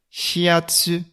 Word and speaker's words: shiatsu: si tu t'intéresses au shiatsu alors maintenant la prononciation japonaise shiatsu fiat fiat comme tu l'entends le hub se